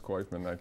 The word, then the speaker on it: Koifman: Koifman, which is easy to pronounce, Koifman, the electroconvulsive Like Kaufman stuff. with an oi, as one of the salespeople said.